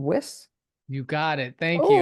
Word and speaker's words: Wiss: gonna get this wrong whis you got it thank you I got nervous for a minute so many people get my last name wrong it's whis thank you thank you my